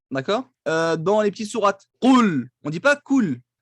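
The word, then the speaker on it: قل: Qul et pas cool.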